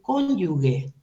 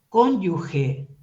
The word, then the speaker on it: cónyuge: quiero Resaltar por favor no se dice cónyuge se dice cónyuge y la explicación quiero que alguien me la dé en esta clase la explicación fonética de la pronunciación para decir cónyuge tiene que llevar una e o sea una una u antes de la e para que suene guey Gracias debe ser